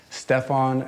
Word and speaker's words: Stefan: hope you enjoy it how do you pronounce your name Stefon and what pronunciations do you usually hear oh Stefan Stephen Stefan Stefon what do you say for the last name j jski yeah there's no W yet I'm a stickler with